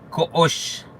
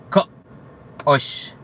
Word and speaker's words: Ko'ox: Koosh es Koosh. Koosh. ¿Ya? Lo pueden pronunciar, inténtenlo, es muy sencillo.